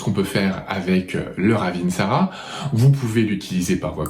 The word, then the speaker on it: ravintsara: de quoi vous parlez si vous parlez du ravintsara c'est le ravintsara leur aventara c'est leur Ravensara et prononcez le correctement parce que j'ai déjà entendu dire par certaines personnes le ravint Sarah donc là après on